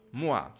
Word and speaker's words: moi: E aqui ó, é pour moi. E aqui o O e o I, a gente pronuncia o A.